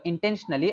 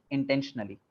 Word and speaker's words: intentionally: And intentionally, again, the O is not pronounced intentionally. Intentionally.